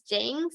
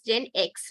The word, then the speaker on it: GenX: so it is uh sorry I mispronounced it but I felt that it is jinx and it is Gen X right okay fine so